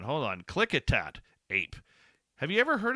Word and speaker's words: Klickitat: I pronounce that right. Hold on. Klickitat Ape. Have you ever heard of the Klickitat Ape?